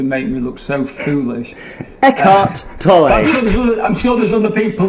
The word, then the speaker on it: Eckhart Tolle: desperately searching on Google who the fuck is Ed Cartoli, and are we pronouncing him in a way that's so typical? Unfair for you to make me look so foolish. Eckhart Tolle.